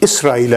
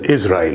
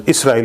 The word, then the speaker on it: Israel: should be pronounced as Israel with scene with s not with z his sons are mentioned